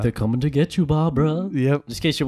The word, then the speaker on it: Barbara: and by the way her name is Barbara not Barbara yeah bruh that's not three-syllable Barbara yeah - so VAR the BA are BR a like a bar brawl oh yeah exactly I